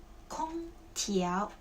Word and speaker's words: 空调: 空调的调查问卷在哪儿 Okay, in this sentence, this character has 2 pronunciations. One is 调空调 Second, 调查 Okay, so this character has 2 pronunciations, and 空调 it's a noun, so 调空调 means air conditioning.